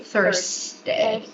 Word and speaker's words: Thursday: This is phonetically, this is the pronunciation of the TH, okay? So you pronounce Thursday, okay? Thursday.